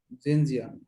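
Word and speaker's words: Xinjiang: এটা হচ্ছে এক্সিনন, উচ্চারণ কিভাবে বলেন? জেনন। জানো। রাইট। চীনের একটা প্রদেশ আছে, নাম কি? জিনজিয়াং। জিনজিয়াং।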